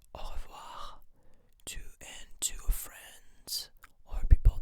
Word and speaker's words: au revoir: And so to say goodbye, we say au revoir, au revoir, au revoir, au revoir. You can spell it with me if it can help you.